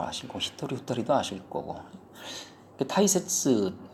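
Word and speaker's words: 大切: 칸가에로 아시고 히토리 후토리도 아실 거고 타이세츠 이게 발음 조심하라고 그러죠. 이게 다이가 될 때도 있고 타이가 될 때도 있고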